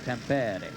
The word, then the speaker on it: Tampere: It's Temper Temper. I've asked enough Finnish people to make sure I'm saying it correctly.